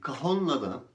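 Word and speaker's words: cajón: popüler bir ritim aleti kajon diye yazılır ama kafam diye telaffuz edilir kafamda Peki Ayla ritim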